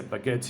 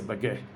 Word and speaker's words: baguette: You can say baguette, you say baguette. Both are acceptable.